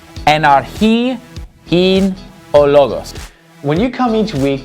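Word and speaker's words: Ἐν ἀρχῇ ἦν ὁ λόγος: So here's how this verse is going to be pronounced. Enarchi in ologos.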